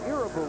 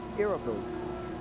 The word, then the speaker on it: Irabu: Yes, everyone here in the States has been calling him Irabu, but when his interpreter was asked how is his name correctly pronounced, he said he'd like to hear it Irabu.